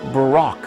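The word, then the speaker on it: ברק: word lightning in Hebrew is word 12.99 it's pronounced Barack in Isaiah 14 12-19 it talks about Satan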